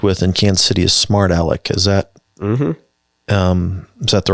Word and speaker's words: Smart Alec: So one of the producers you've worked with in Kansas City is Smart Alec.